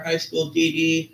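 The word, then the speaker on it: High School DxD: The X is silent.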